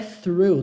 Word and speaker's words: through: A pronúncia disso aqui é through, tá? Through. Põe a pontinha da língua entre os dentes e sopra.